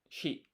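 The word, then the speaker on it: 四: So 4 in Japanese is yon or shi. Shi is a less commonly used one.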